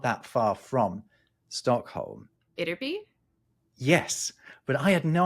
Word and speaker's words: Ytterby: The "y" is this weird Germanic "y" sound that we don't use in English, but most of the other Germanic languages do, and there are four